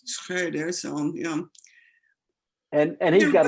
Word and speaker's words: Schroeder: I said Schroeder, but is Schrader the way you pronounce that? I said Sarah? Schroeder for the longest time, and then someone corrected me that, I mean, the proper German pronunciation is Schroeder.